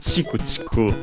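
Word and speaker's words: ちくちく: So accented on the ku, chiku chiku.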